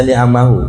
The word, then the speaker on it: ni'amahu: Bersyukur ni'amahu, bacanya ni'amahu. Ini jamak taksir dari nikmat.